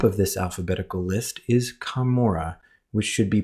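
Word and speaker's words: Camora: The Book of Mormon the hill kamora was first spelled c a m o r a and had the same pronunciation as McPherson's kamur as you can see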